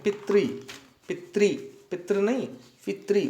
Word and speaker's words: पितृ: तो ऋकार पुल्लिंग शब्द यहाँ दिया हुआ है पितृ, पितृ नहीं पितृ, उच्चारण सही करेंगे पितृ।